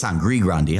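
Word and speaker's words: Sangre Grande: it yeah sandy Grandi when there's no D. I say Sandy Grande. Everybody I I know it's Sangri Grande.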